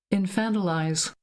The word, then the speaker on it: infantilize: Infantalize. Here's the UK version. Infantilize. It seems I'm wrong in both countries. You are right. It is infantilize. Sounds like wanna Fanta.